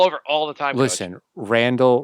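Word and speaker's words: Randle: all the time listen Randall rhymes with handle remember that okay Rand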